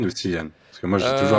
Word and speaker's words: Cillian: C'est Kylian ou Kylian?